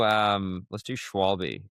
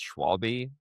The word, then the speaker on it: Schwalbe: do you actually pronounce Schwalbe, and the German pronunciation is not how we say it Schwalbe.